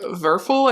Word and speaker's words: Werfel: So I guess just from doing a quick Google search, this author, Frank Werfel, I think is how you would say his name, he was an Austrian